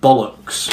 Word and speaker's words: bollocks: vowel sounds you know now if we were to say this word strictly phonetically I suppose we would say bow locks bar locks caught the off there and the off there but we don't say ball knocks we said bollocks hmm now the off